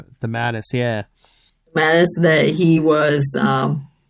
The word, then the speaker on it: DeMatteis: DeMatteis? DeMatteis, yeah.